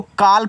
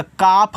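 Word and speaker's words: calf: इसको काल मत पढ़िएगा। काफ पढ़िएगा। एल साइलेंट रहेगा।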